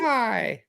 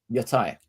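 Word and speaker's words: Yōtei: Is that pronounced correctly? Yotai. Yotai. Ghost of Yotai. Yeah, It's like the Greek. Pronounce it like it's Greek, and you've got it about right.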